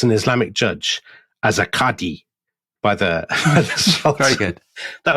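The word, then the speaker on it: qadi: been named as an Islamic judge as a kadhi by the very good that was beautiful uh beautiful Arabic pronunciation so abdulkram senior is a sort of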